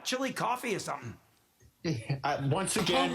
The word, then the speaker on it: Chillicothe: No, just it sounds almost like coffee at the end of the name. Oh, The opposite of hot off the presses. Chili, coffee, coffee, Koofy.